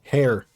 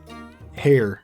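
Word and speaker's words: hare: was it the hair you do pronounce the h it's not air hair hair hair hair hair what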